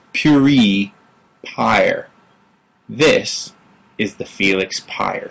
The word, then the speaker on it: Pire: then I say no it's like fire but with a p higher at least that's